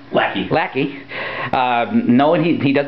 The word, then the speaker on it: Lackey: Okay, we are here with Chris Lackey, I believe it's pronounced? Lackey.